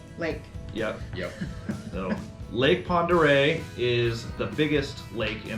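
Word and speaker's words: Pend Oreille: lake it's a town it is Ponder Ponder this is probably I would say this is probably the most commonly mispronounced out of all of the names out here you get a lot of pendor pendor yeah all over the place pendor pendal um P which not to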